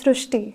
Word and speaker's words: Srishti: So in Marathi, the word Ri is pronounced as Ru. So that is why the pronunciation goes Srishti.